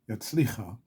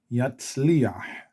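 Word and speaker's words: יַצְלִיחַ: chet or a hey, and there's a vowel underneath, the vowel gets pronounced first. Okay, so yatzliach, yatzliach.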